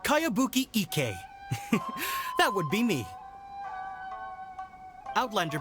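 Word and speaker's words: Kayabuki Ikkei: new one i've never heard of it by cowabunga icky this is a really strange name who's this cowabunga it's pronounced kayabuki ek that would be me outlander brigade is a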